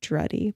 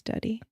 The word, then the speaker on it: Duddy: Oh, but I'm making your last name Druddy, but it's duddy.